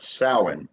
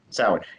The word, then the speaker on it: Samhain: holiday Irish and Scottish origin it's a technically pronounced salad so salad and it's a it's it's weird cuz a